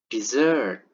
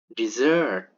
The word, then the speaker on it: dessert: The bottom word is pronounced dessert, dessert.